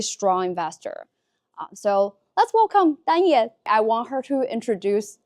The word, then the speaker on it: Danye: My name is Danye, in Chinese Wang Danye, but most Americans can't pronounce the name Danye. If they see the spelling, they don't know what it means. I introduce myself as Kanye with a D, and everybody knows Kanye West.